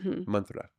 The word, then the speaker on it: mantra: So you pronounce it mantra, right? Oh mantra. Yeah. But the a is short so it's man.